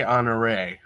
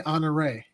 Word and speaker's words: Honoré: It's got that little accent on the back end. I'd go with Leslie Honoré. Leslie Honoré, and it rhymes.